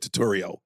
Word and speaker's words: Turturro: You're going to make me fuck it up, but you said Turturro. Did I say it wrong? Like a tutorial.